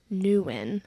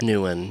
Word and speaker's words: Newman: I always say Newan.